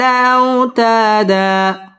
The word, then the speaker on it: أوتادا: টান দিয়ে পড়তে হবে ওয়াল জিবালা আও জবরের বাম পাশে জজম ওয়ালা ওয়াও লিনের হরফ তাড়াতাড়ি পড়তে হবে আও তা মধ্যে তবাই জবরের বাম পাশে